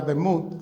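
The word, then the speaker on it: דמות: le prestamos atención que es una palabra hebrea demud se pronuncia que significa esa palabra tiene una raíz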